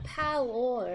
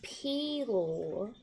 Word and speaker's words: Pelor: So I learned that a Palor is actually pronounced Pelor.